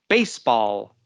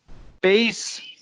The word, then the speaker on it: baseball: Okay, and did you notice how I said that? Baseball. Baseball. Remember in the phrasal nouns how we did that? You stress the first word, okay?